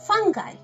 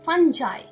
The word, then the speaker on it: fungi: So the plural of fungus is fungi. Fungi. Now this is a little controversial because there are some people who would also pronounce it as fungi. Fungi or fungi. So it's fungi, fungi. Or you can even pronounce it as fungi. So however you pronounce it is perfectly alright.